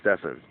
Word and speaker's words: Stephen: in in previous videos his name is spelled Stephen but uh he goes don't call me that call me Stefan so I think his